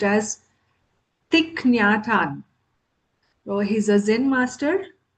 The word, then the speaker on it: Thich Nhat Hanh: So he's from Vietnam and his name is pronounced as Thikyatan.